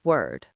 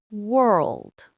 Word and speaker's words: world: The problem is that Chinese doesn't have the R sound the same way English does. And when it mixes with L, things get even harder. Here's how to fix it. For R, curl your tongue slightly back, but don't touch the roof of your mouth.